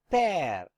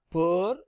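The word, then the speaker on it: père: For example, this will be pronounced as pear. It is not per, it is not pear, pear.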